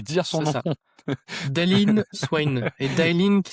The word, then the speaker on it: Dailyn Swain: Daylin Swain et Daylin qui s'écrit d'une façon, assez particulière, en fait.